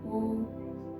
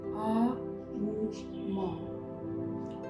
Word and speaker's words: ओम: इतना लंबा ओम, स्लोली ओम, आ उ मा, ओम शब्द, आ उ मा।